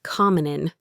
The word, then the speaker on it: come on in: Come on in. A native speaker says commonin. Them sound links to the O and the N sound links to the I.